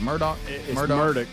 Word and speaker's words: Murdaugh: to the murdaugh stuff is that how you say his name is it Murdoch ain't that how we say his name is it Murdock yeah but it clearly spelled murdal and they they say